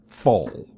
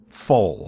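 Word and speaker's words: Pfohl: The real name of this wrestler is Lawrence Wendell Fohl. Last name is spelled P-F-O-H-L. What was it? Name one more time? Lawrence Wendell Fohl. I think it's how it's pronounced. It's spelled P-F-O-H-L.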